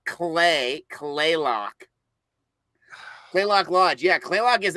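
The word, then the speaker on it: Kalaloch: stuff so now did you get down to play loock Lodge did you get down all the way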